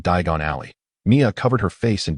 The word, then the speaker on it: Diagon Alley: Simply ensure you pronounce the location correctly, Mrs. Weasley reassured Harry." As Harry stepped into the fireplace, clutching a handful of flu powder, he murmured to himself, "Diagon Alley! Not Daon Alley!